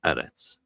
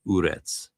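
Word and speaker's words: ארץ: Like arets was arets. It wasn't like urets, right?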